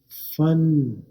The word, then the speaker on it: fun: अब यहाँ पर यू आ की आवाज निकाल रहा है, यहाँ पे यू की आवाज नहीं निकाल रहा, बल्कि आ, फा।